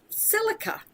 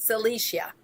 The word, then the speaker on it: silica: The next one is silica, or sometimes people pronounce it silicia.